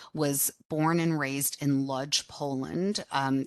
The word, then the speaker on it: Łódź: My father, Jacob Lederman, was born and raised in Łódź, Poland. If you're Polish, you would pronounce it Łódź, but we always said Łódź.